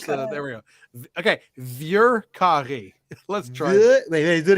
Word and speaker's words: Vieux carré: Vieux carré.